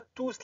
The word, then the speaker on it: tous: les c'est bon et ne prononcez pas s ne dites pas tous les élèves parfait tous